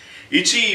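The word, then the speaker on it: いち: These are the sort of the basic syllables in Japanese. Ichi, you will say ichi scratch.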